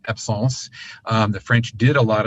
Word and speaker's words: absence: There are others, but absence seizures, or that's a French word, it actually is pronounced absence.